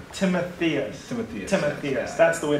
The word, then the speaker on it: Timotheus: I say, you know, Timothy us. So it's Timothy us. People try to overcomplicate the name, but Okay. it's pretty straightforward usually. Yeah. When you see it spelled, you might want to pronounce it like Timotheus or something like. Well, from I like Greek. I like Timotheus. So it depends on how you rhyme with like Amadeus. Exactly.